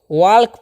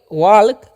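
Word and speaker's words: walk: तो इसे वाल्क नहीं इसको क्या पढ़ना है? आप लोग यहां पर देख लीजिए। वॉक क्या पढ़ना है? वॉक।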